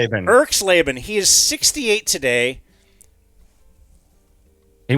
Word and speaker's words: Erxleben: Oh, Russell Erxleben. Erxleben.